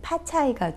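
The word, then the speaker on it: 发财: 중국어 발음으로는 이제 파차이가 되고 그 다음에 파를 의미하는 것도 역시 또 파라고 발음이 되는 거예요.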